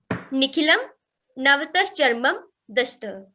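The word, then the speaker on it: Nikhilam Navatashcaramam Dashatah: Its pronunciation is like this: Nikhilam Navtas Charmam Dashta. Nikhilam Navtas Charmam Dashta.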